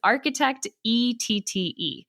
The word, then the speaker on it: Architectette: We're on all social media at architect and that is kind of a strange word that a lot of people have a hard time pronouncing, I realize, but it is architect.